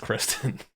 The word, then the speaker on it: Cristin: But Kristen, C R I S. I know what you mean. I think the same exact thing. I I didn't realize it was even pronounced Kristen.